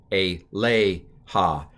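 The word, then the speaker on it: אֵלֶיהָ: leija usually this the the stress is on the second to last syllable on the a part a lei ha a Leica okay it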